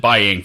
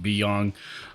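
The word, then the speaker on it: Biyang: I've pronounced it Byang forever, and I just recently realized I've been pronouncing it wrong. It's actually pronounced Beyong /Wangs.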